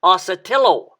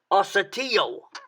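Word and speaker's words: ocotillo: version that might sound like with an l asatillo the spanish uh uh correct pronunciation would be the way they pronounce it down here which is assateau it is a tall wiry looking cactus this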